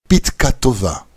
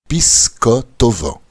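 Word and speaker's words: פתקא טבא: À Hoshana Rabbah, nous saluons nos amis avec la bénédiction Pitka Tova. Bonne note, les Ashkénazes prononcent Pisko Tova, pour faire référence à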